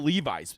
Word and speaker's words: Levis: everybody thinks that will Levis by the way a lot of people that know this about will Levis it's actually will Levis he's a big jeans guy big jeans guy loves jeans so a lot of